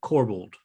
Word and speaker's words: Corbould: And the nominated team is Alex Woodka, Simone Coco, Jeff Sutherland, and up again, Neil Corbould.